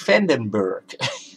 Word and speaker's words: van den Berg: You are Vandenberg? Oh no, Vandenberg. Dutch name. Dutch name. And we pronounce it Dutch. van den Berg.